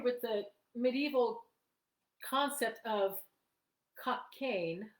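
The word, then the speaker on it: Cockaigne: the medieval concept of cocaine i think that's how you pronounce it cocaine i c-o-c-k-a-i-g n e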